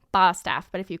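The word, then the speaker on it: Bostaph: it's spelled b-o-s-t-a-p-h so most people pronounce it both staff but i remember you told me it's bad like a sheep in the south like a sheep staff staff bastaff but if you call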